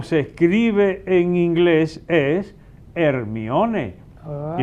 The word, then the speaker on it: Hermione: Entonces, aquí diríamos Hermione. Pero en inglés, como se escribe, como en griego también es Hermione. Ahora se animan a ponerle a una sobrinita el nombre original. Se lo están poniendo Hermione, como lo pronuncian en inglés, sí.